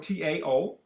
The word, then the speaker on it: Tao: You live foul, you live against nature, you live against the Tao, spelled T-A-O, but we pronounce it Tao.